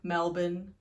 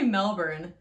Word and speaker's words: Melbourne: I used to say Melbourne. And then my sister was like, no, it's Melbourne. And I was like, but there's still an R in it. But the Australian people just don't say the R. So you tell me how to say it. Melbourne. Melbourne. Yeah, I think you just gotta like relax. The Australian accent is just like be lazy. It's essentially what it is.